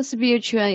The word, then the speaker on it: spiritual: Spiritual and the stress is on the first syllable. On the first syllable, spiritual.